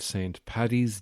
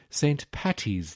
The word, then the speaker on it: Paddy's: I hope you all had a good St. Paddy's Day, or as it's known in America, St. Patty's Day, which is wrong.